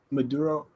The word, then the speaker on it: Maduro: How do you pronounce that though? Maduro.